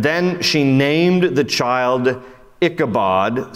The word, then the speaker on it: Ichabod: in your Bibles there Ichabod in Hebrews pronounced the B is pronounced like a V it's Ichabod ichavod means Inglorious or without